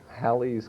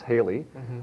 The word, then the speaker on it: Halley: about uh comment comment halle i guess or halley's comment or halley's comment is this this whole rigmarole about the pronunciation the the man who it was named